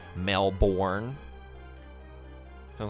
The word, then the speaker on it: Melbourne: Yeah, it's pronounced burn rather than born. Yeah. Okay. Thank you. Melbourne.